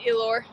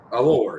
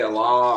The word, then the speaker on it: Elor: Amit Elor. Allure, yeah. I always say Allah or something.